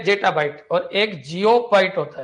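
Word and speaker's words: geopbyte: जेपोबाइट देखिए, एक तो होता है जेटाबाइट, ये है जेटाबाइट, और एक जियोबाइट होता है, जे नहीं होता, जी होता है, जी होता है ना, जियोबाइट।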